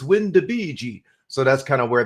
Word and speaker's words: WinDbg: uh student from Italy corrected me in my pronunciation of windbg or windbag and he said no it's wind de Bei so that's kind of